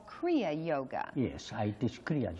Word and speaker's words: Kriya: Mother, in Kriya, there is two syllables, Kri and Ya.